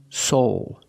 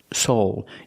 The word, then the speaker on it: soul: they are soulmates pronunciation soul soul a long o plus the dark l o o soulmates they're